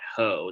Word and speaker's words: Hoh: uh his name is matt ho that's hoe is spelled hoh you might look at